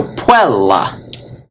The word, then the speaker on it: puella: But because it has two consonants after it. So, puella.